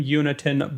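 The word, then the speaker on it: Jonatan: a clip over and in Swedish it sounds like his first name is pronounced unitenberg sorry wait yeah like Yoon y-o-o-n wait who are we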